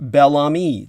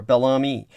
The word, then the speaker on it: Bellamy: quickly becoming trump central my name is pronounced bellami there we are bellami and uh so thank